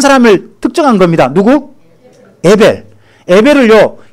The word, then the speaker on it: 에벨: 에벨을요 히브리식 발음으로 하면 헤벨이 됩니다.